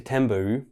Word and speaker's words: Thunberg: 23rd of September 2019 Greta tembu and yes that is how her name is pronounced gave a let's say